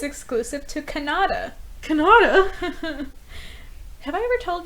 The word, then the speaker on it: Kannada: saying it wrong okay how do you say it that's like it's Kannada guys with